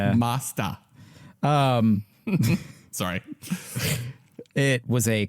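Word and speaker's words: Masters: the uh Neo Geo I believe the correct pronunciation of that name is neot Turf Masta maasta MAA there there's no ER it's Masta um sorry it was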